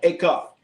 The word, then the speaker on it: cuff: A cup. Cuff. I gotta say it right. A cuff. Like cuff link. Like a cuff link.